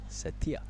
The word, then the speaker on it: Tanjung Setia: So the correct pronunciation is Tanjung Setia. Setia. Yeah, Setia. Lean on the T and the IA, the Tia, not Setia, as we've been saying.